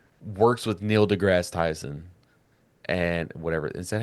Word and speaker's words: Neil deGrasse Tyson: We need like one person that like works with Neil deGrasse Tyson and whatever. Is that how you say it? yeah. Neil deGrasse Tyson.